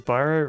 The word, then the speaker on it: Biro: Does Biro rhyme with wino? Yeah, yes it does.